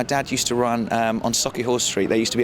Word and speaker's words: Sauchiehall: Yeah, my family, my dad used to run on Sauchiehall Street. There used to be an old Bernie Inn. You actually said it right. Oh yeah, Sauchiehall.